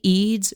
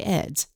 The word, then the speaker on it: Eads: And Eads is spelled E-D-D-S. I know the spelling goes against any and all pronunciation rules you've ever learned. So I promise I won't get mad if you say Eds.